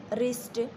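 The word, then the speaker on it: wrist: डब्ल्यू की यहाँ पर कोई भी साउंड नहीं है।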